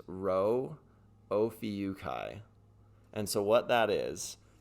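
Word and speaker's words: Rho Ophiuchi: that is that is this is hard to pronounce but it is row o Kai and so what that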